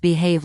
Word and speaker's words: behave: 강세가 뒤에 있고 발음도 해가 아니라 해의입니다.